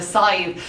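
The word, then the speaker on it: Sadhbh: going to be, and a Side spelled like the original name, which is like SADBHBH or something like ridiculous.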